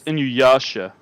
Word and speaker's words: Inuyasha: you're pronouncing that properly no it's yeah it's inuyasha that's what i said